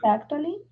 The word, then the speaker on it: actually: She's actually, Actually, actually, she's mhm, actually, actually. actually, Mhm. Este CT pronuncialo como una sh.